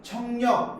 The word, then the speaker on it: 척력: 그냥 이거 발음할 때는 편하게 청력 이렇게 표현해도 됩니다. 굳이 척력 이렇게 안 하고 청력 이렇게 해도 돼.